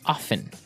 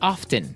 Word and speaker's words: often: Now, with pronunciation, some people like to pronounce often, right? They kind of leave out the strong T sound, while other people say often.